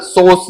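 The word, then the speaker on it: psoas: muscle कौन सी muscle सोस या पोस muscle P silent रहता है इसमें सोस मसल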